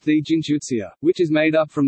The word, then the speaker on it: джинтуиция: One such example is the word gintuition, gintuition pronounced the gintuitsia, which is made up from the words gin and intuition.